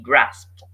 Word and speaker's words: grasped: And by the way, the word grasp, the D is pronounced as T, so it's grasp. So the end of the word is SBT, SBT, grasped.